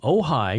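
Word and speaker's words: Ojai: and Lisa is from ohigh California ohigh ohigh it's spelled OJ i a or OJ AI so oh high oh high and what does Lisa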